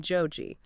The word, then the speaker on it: Joji: music under the name Joji, which is simply the Japanese pronunciation of his given name George.